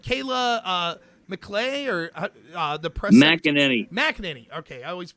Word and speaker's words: McEnany: McEnany. Okay, I always mispronounce it.